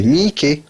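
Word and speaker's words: Miike: Non, le double I, en fait, il faut l'imaginer séparé. Vous avez Takeshi Mi et Ike, ça fait Mi-Ike, voilà.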